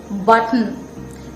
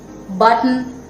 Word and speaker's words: button: be pronounced as button button here this t goes as a weak syllable button written kitten remember go